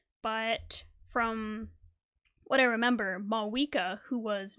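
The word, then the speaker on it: Mavuika: But I guess the Pyro Archon, Mawika, which I now know it's pronounced Mawika, not Mavwika, my bad.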